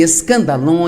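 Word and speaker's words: σκάνδαλον: A palavra ofensa vem de uma palavra grega, pronuncia-se escandalon, e é, na verdade, a parte da armadilha onde você pendura a isca que vai atrair o animal e permitir capturá-lo.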